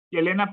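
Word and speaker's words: Елена: Elena andreyecna por andrey y Elena petrogna por su padre Peter venía petrogna de Peter en Rusia Elena se pronuncia usualmente yelena o Elena Helena o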